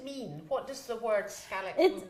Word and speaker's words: Kärleksmums: We have this peculiar thing with little dots over our A's and O's, that's right. and that's an A. So if I'm going to pronounce, I'm going to say Kärleksmums.